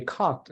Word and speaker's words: caught: word, you just say caught. You don't pronounce like this letters in the middle. And AU also is pronounced as one sound.